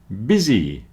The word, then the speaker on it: busy: so child not chilled busy rhymes with dizzy so this man is very busy and dizzy business has two syllables